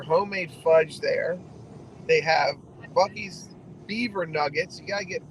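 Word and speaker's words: Buc-ee's: Googled it um and it's not it's not Bucky's like you would think it's spelled Bucky's it's B oh don't hit that Porsche sir he's already been hit um it's b u c b u c c Dash EES buckies that's pretty cool how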